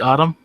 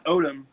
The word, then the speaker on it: Odom: Is it Autumn? No, it's Odom. Odom. Yeah. I'm sorry, man. No, it's all good. Everybody gets it wrong. So yeah, I always have to say Lamar Odom, just so people could get it right.